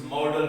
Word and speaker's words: modal: Now we move to sentences where we use modal verbs. You remember modal verbs? One of the types of verbs, categories, is modal verbs. And remember that this is spelled as M-O-D-A-L and it is pronounced as modal.